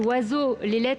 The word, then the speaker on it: oiseau: Je donne un autre exemple, oiseau, toutes les lettres de ce mot ne sont pas prononcées.